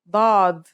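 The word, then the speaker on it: ضاد: This one is like a strong version of the dal, kind of like the d in the word daughter. It looks just like the sod except that it has a dot on top. The difference between this letter and dal is the same as the difference between sod and seen with your throat constricted.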